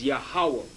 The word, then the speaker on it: Yahuwah: this seems to be the true hebrew pronunciation of the divine essential name and he has his name which is yahuwah they have a jehovah which is wrong will appear more obvious